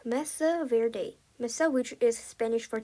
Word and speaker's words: Mesa Verde: Wordwise mea verde is pronounced messa verde.